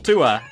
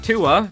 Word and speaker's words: Thue: this guy named axel tua and yes 2a is pronounced differently from tua because the manual says so so basically 2a is